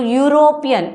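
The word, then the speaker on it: European: इसको अगर हम प्रोनाउंस करेंगे तो यूरोपियन यू की साउंड आएगी। तो यू की साउंड आएगी तो वो हमारी कोसोनेंट साउंड है। तो यहां पे क्या लगा देंगे? अ यूरोपियन country.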